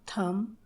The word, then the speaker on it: thumb: উদাহরণস্বরূপ bomb, BOMB bomb, COMB কম, THUMB থাম, THUMPNAIL থামনেল। ডাব্লিউ এর পরে এইচ অথবা আর থাকলে ডাব্লিউর উচ্চারণ হয় না, অর্থাৎ সেটি সাইলেন্ট থাকে।